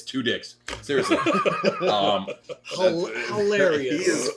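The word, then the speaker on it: Tudyk: amazing i watch him and that's how you pronounce it it's two dicks seriously um hilarious he is funny he's great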